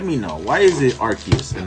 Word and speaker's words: Arceus: A lot of people pronounce it as Arceus, but shouldn't it be Arceus? Like, I don't know that the C warrants the K sound in that, in that spot.